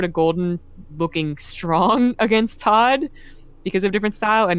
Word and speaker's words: ToD: ToD rhymes with God.